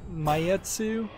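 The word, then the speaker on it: Maitetsu: oh here's a game I haven't heard of mayetsu it's spelled m-a-i-t-e-t-s-u pure station is launching July 26th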